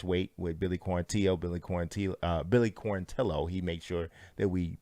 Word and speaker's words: Quarantillo: Billy Quarantillo. He made sure that we pronounce his name correctly moving forward.